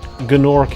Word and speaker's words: Gnorc: I was going to say you don't pronounce the gna in gnome.